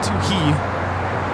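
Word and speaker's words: Touhy: It's Toohey, not Toohey. Dewey. I mean, the H is silent.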